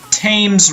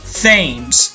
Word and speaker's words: Thames: and kind of is the tames River which has an American I'm quite tempted to pronounce as Thames simply because I cannot imagine saying tongue or attacked or tick the Romans built a